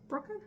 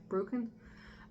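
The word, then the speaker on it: Bruecken: me but amy brookin b-r-u-e-c-k-e-n broken i think that's how i would pronounce it broken um from it's found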